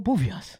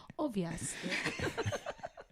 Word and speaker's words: obvious: And then he's like, oh, Bovias. Obvious.